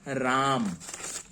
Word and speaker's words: राम: ये खास तौर से अंग्रेज लोग इस तरीके से उच्चारण करते हैं रामा। नाम अगर आप ऐसे भी लिख देंगे तो इसे हम गलत नहीं कहेंगे, लेकिन हमारी जो हिंदी भाषा के लोग जो उच्चारण करते हैं उसके आधार पर अगर हम देखें तो सबसे शुद्ध है राम, जो कि मैंने यहां पर लिखा है।